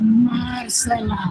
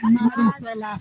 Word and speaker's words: Marcela: Actually, the last time you were on my show, your mom was like, "It's Marcela." Yes. Not Maricela.